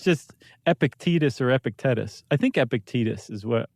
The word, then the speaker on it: Epictetus: Uh Seneca, and then a very important Stoicist uh Well, I'm going to pronounce it Ep- Epic- Epic-tec- Epictetus. Epictetus.